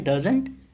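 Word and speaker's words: doesn't: देखो लगा तो टी है, लेकिन जब हम बोलते हैं ना तो हम उसको साइलेंट रखते हैं।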